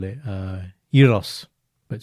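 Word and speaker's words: gyros: you call it uh Euros but spelled like with the G but they dropped the G in in uh in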